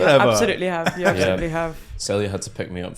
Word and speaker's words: Celya: Celya, AB.